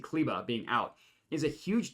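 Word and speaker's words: Kleber: kber being out CBA I keep saying cber because that's how it's spelled Maxi kba being out is a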